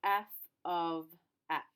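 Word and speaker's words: f(x): that's the symbol for a function and we pronounce this as f of x and what throws people off sometimes is you've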